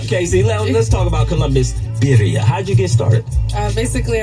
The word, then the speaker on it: Birria: Even though I didn't say that right, because I can't roll my tongue, we have Miss Casey and Mike over there. How you say it, Casey? It's Birria.